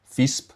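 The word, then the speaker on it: Visp: Fisp, I believe, is the German Swiss pronunciation.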